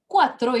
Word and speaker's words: cuatro: way i'm pronouncing okay so cuatro is a k because a strong vowel u okay is coming after c and i is a weaker vowel which is coming after c and c is becoming s that